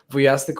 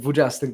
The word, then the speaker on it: Wujastyk: Everybody, make sure you follow not only Jake Wujastyk or Jake Wujastyk by the American pronunciation.